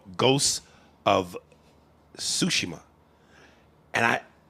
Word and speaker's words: Tsushima: Dude, I recently bought this game for PlayStation called Ghosts of Tsushima. And I was pronouncing it Ghosts of Tsushima. But then I was going, wait a minute. You gotta Japanese it. Ghosts of Tsushima.